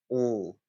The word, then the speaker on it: all: call the dark l so it's not really L it's all all uh so the tongue is slightly further back in the mouth instead of L at